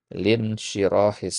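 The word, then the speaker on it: لانشراح: Nah, jadi ini hamzahnya hamzah wasal, jadi tidak dibaca ya. Jadi bacanya lin syirahis sadar. Jadi langsung ke huruf nunnya.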